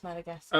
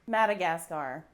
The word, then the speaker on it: Madagascar: I pronounce it Madagascar. Yeah. Wife? Madagascar. I noticed Scar, that the yeah. last part sounded like NASCAR.